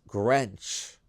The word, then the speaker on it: Grench: The way he spelled it, it's Grench. Rhymes with Judi Dench.